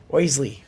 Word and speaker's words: Oisle: Oisle. That's how they pronounce it. But it's just OISLE.